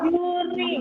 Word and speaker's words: juring: yang berikutnya yang berikutnya adalah juring Awas jangan ketinggalan huruf n-nya Kalau ketinggalan huruf n-nya jadi apa dibacanya juri berarti ya What is the meaning of Ju ya tahu ya Iya juring yang ini ya bukan Jurig ya ya juring Oke ini